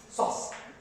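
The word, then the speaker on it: psoas: thing is sauce sausage sauce don't pronounce p forget about the p okay sauce muscle left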